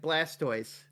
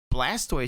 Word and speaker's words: Blastoise: Actually, Nox, when we were talking about this a while back, Blastoise should actually be Blastus. Right, because it's a tortoise. Yeah. You don't say tortoise.